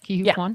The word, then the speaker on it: Ke Huy Quan: Ke Huy Quan?